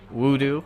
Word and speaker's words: Wudu: full we do and let's pronounced voodoo even though it's spelled woot I'm sure there's a